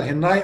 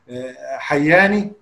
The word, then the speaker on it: هناي: كان في قبائل زمان اسمها قبائل العلاق ابن سليم، وفي جبل اسمه جبل هناي، قبائل البشريه بتقول عليه جبل هناي، احنا للاسف بننطقه حياني، بنقول العلاقي حياني، هو العلاقي هناي، لان في جبل اسمه هناي وجبل تاني اسمه جبل شناي.